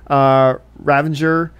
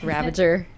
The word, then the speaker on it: Ravager: We get to see Ravenger, or whatever, how you pronounce her name? Ravager.